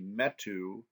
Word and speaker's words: metu: And then we've got this vacua metu, and note in your book that the metu has a long U at the end.